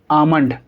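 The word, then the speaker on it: almond: हमने कॉन्सेप्ट देखा, जब भी एम से पहले एल लिखा जाएगा तो एल साइलेंट होगा। तो इसको पढ़ने का सही तरीका क्या होगा? आमंड।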